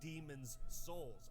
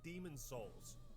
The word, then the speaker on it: Demon's Souls: you you guys know the game is actually called demon's souls as in the souls of the demon yeah but nobody pronounce it i still really need to play that pause when you say demon's souls otherwise it sounds like you're saying demon souls demons souls [ __